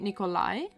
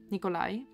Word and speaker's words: Nikolai: it's literally the a the stress on the last day so St Nikolai like this Nikolai ah Nikolai maybe people